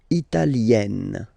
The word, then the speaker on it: italienne: L'Italie, Italien, Italienne. Remember, when you get this followed by a double consonant like here, then you will have to open it. Italienne, italienne.